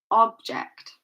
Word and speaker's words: object: Okay, So notice that the stress is placed on the first part of the word.